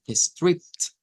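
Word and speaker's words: stripped: a pronunciar esto así la terminación para esa Ed la Ed que está ahí escrita la debe sonar como una t y de ahí es donde esta palabra se dice stript stript con t al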